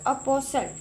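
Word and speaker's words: apostle: Next word है हमारे पास अपोसल, ठीक है, तो इसमें टी साइलेंट है, ओके जी।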